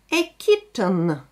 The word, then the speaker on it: kitten: Да, мы один звук «т» слышим, хотя в слове две буквы «т». A kitten. И сразу после «т» мы слышим звук «н».